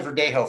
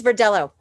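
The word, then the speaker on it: Verdelho: tell me about the verdejo first well it's it's actually pronounced for dello it's not a spanish name so you're going to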